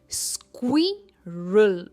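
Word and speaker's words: squirrel: सबसे पहला है स्क्विरल स्क्विरल। स्क्वी पर इसका स्ट्रेस है।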